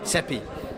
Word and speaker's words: Sepehr: Sepehr.